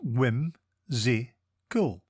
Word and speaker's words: whimsical: It is pronounced whim-zi-cool and is spelt W-H-I-M-S-I-C-A-L. Think whim, see, and then cal.